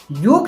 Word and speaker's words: योग: योग शब्दको अन्तिम अक्षर ग मा कुनै पनि आकार नभएको कारणले यसलाई योगा नभनेर योग भन्नुपर्दछ। पश्चिमी मुलुकमा बढ्दो लोकप्रियताको कारणले उच्चारणीय परिवर्तन भएको कारणले यसलाई योगा भनिएको तर वास्तवमा यो योग हो।